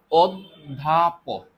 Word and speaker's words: অধ্যাপক: এখন এই ধ জফলা মানে হচ্ছে কি, তুমি দেখো তো, অধ্যাপক, অধ্যাপক, তুমি দেখো তো অ এর পরে এখানে দটা কিন্তু আমরা দুইবার উচ্চারণ করি, তাই না?